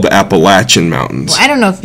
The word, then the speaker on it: Appalachian: another one is um growing up it was always the what was the the mountains I can't I don't know if I can say it wrong anymore but it's the Appalachian Mountains Appalachian Mountains that's what